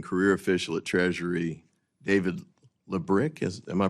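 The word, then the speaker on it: Lebryk: And I believe you were approached by the highest ranking career official at Treasury, David Lebrick. Am I pronouncing his name correctly? I believe it's Lebrick.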